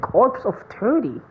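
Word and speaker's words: Corps of Thirty: what a weird name also silent P and S it says corpse of 30.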